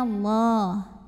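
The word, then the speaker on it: الله: jelas n an lafadz Allah dibunyikan secara tafkhim sebab huruf sebelumnya yang mim berbaris fathah maka dibacanya ditebalkan bunyinya Allah lalu Alif lamnya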